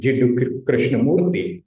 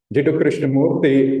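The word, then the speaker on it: Krishnamurti: And then from the other side, you have this contrasting picture of Annie Besant and Krishnamurthi. By the way, you pronounce it Murthy. Krishnamurthi was heavily promoted by the Theosophical Society and raised up as Alcyone.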